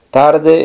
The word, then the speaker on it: tard: set TR pe se tarde en francés Es muy similar sería simplemente sin la e pero la d del final no se pronuncia O sea que sería